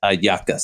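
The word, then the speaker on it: hallacas: uh it's amazing it's really good but it's pronounced it's a aaka h a c k a l l a s ayakas just like it's in Venezuela a jackass yeah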